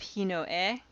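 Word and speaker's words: ひのえ: younger brother ototo uh and then we have hino e the older brother of fire hinoto the younger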